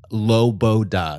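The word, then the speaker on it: Loboda: Ukrainian singer Svetlana so her name is lobo da that's how you say it l-o-b-o-d-a but you say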